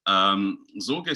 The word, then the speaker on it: Sorge: my hero for a moment, Richard Sorge, for pronouncing his name correctly. He's Sorge, strangely enough, in German means anxiety, which is